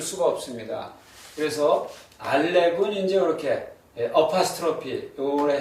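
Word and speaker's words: אלף: 그래서 두 가지 예외는 이제 알렙 알렙하고이 아이언요 두 글자 히브리어에서 두 글자는 묵음입니다. 소리가 없습니다.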